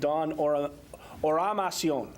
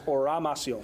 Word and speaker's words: Oramasionwu: Eddie Steele and Dawn Amasya. Oramasionwu. There you go. The proper way to pronounce it is Oramasionwu.